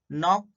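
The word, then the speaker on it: knock: यहाँ देखो एग्जांपल्स है, देखो नाउ, नॉक, knife, night, knowledge. ये सब साइलेंट के लेटर के एग्जाम्पल है।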